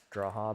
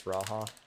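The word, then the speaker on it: G'raha: And to be fair, when I first started playing Final Fantasy, I definitely couldn't read Graa, but it's Raha. Do they not pronounce the G?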